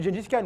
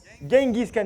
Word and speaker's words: Genghis Khan: Vous connaissez Gengis Khan ou Genghis Khan, comment on prononce? Genghis? Genghis Khan, merci monsieur les historiens.